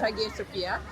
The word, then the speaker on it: Hagia Sophia: Yes, Hagia Sophia.